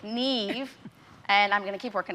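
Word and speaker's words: Niamh: mom to the neve neve it's spelled n-i-a-m-h apparently it's gaelic neve and i'm gonna keep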